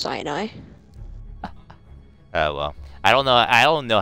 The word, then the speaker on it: Sinai: Sinai Desert. Oh God. It's actually pronounced Sinai.